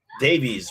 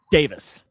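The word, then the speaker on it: Daviess: Davies, right? Davis. It's just Davis.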